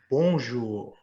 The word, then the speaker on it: bonjour: please repeat after me bonjour bonjour almost you're almost not saying the n make it a nasal sound try to make the first syllable come through your nose bonjour bones foreign i believe